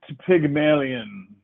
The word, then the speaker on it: Pygmalion: It is pronounced Pygmalion.